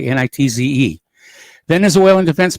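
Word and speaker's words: Nitze: the missile destroyer USS neat sea I think it's pronounced that way NIT ze then as oil and defense minister vladimir Padrino has warned the u.s.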